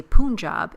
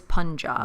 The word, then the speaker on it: Punjab: And so the U in Punjab, or Punjab, we assumed was pronounced the same way. If it's Hindu, we assumed it was Punjab. It's not. It's Punjab.